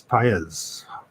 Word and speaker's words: Pius: No, like pie, like an apple pie is Pius.